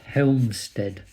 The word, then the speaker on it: Helmstedt: So there's like a Allied checkpoint, Helmstedt.